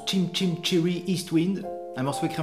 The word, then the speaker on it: Chim Chim Cher-ee: Aujourd'hui pour vous, un petit peu de piano avec le morceau Chum Chaminé, qui en anglais se prononce Chim Chim Cherry East Wind.